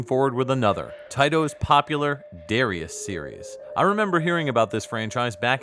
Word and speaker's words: Darius: and furious starting with darius burst the pronunciation in japanese is darayus the katakana for this is broken down with the syllables with the end trailing a bit as naturally done in japanese languages i was then pointed